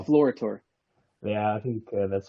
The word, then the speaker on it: Deflorator: In English, you would say Deflorator, I guess. But that's how I say it, well, Deflorator.